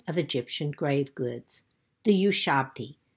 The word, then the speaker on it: Ushabti: But today, I want to share with you the most common of Egyptian grave goods, the Ushabti, sometimes pronounced Shabti or Shawabti.